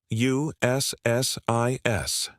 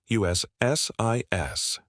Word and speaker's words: USCIS: This is always said as individual letters. USSIS. Never try to say it as one word. USSIS.